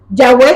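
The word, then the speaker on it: Yahweh: Yahweé está escrito sin vocales, ¿verdad? Entonces, pero nosotros para poder pronunciarlo decimos Yahwe, pero se escribe y H wu o W.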